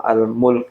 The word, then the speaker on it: Al-Mulk: yaitu surah almulk ini jangan sampai salah bacanya karena banyak orang yang baca surah almulk akhirnya semuanya hafalan itu jadi surah almulk Kenapa karena Mulk itu bahasa Jawa itu kan jadi Mulak lancar-lancar Mul Jadi almulk bukan almul beda ya ini